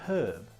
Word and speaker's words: herb: It is a herb. Notice how I pronounce the H, because I'm British.